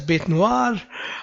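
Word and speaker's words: bête noire: is an interesting word it's a french expression and it's pronounced as bait noir uh what is or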